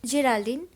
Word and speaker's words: Geraldine: of an evil spirit Geraldine over France one important thing you can pronounce Geraldine as your elder but do not ever pronounced like Geraldine okay so the evil